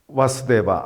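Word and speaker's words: वासुदेव: 대바라고 또 부르기도 합니다 우리 국어에서는 모음의 장모음과 단모음의 구별이 없으니까 표기를 할 때 그냥 와수대바 이렇게 똑같이 표기가 되는데 정확한 발음은 왓츠 데바 아버지의 이름입니다 따라서 쓰바드라는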